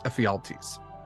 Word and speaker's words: Ephialtes: Oh, it's that's right, because it's not necessarily a P, it's the phi symbol, so it's Ephialtes.